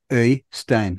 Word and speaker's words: Øystein: Øystein. We have a vowel you don't have, so you're not practiced in saying it. Ö is the vowel. Oi.